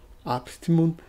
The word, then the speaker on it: Abstimmung: Abstimmung. O acento está nesse Abstimmung, de von Uexküll, né?